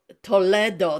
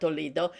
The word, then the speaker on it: Toledo: while I was in Toledo, that's how the Spanish pronounced, not Toledo. And while I was in Toledo in the main synagogue,